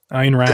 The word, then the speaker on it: Ayn Rand: Ayn Rand.